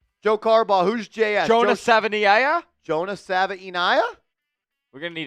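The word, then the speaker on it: Savaiinaea: I used to think of Sabia. It's not that simple. Jonah Sava. It's a lot. Whatever you think it is, it's more difficult. It's Jonah Savia. It has like eight syllables.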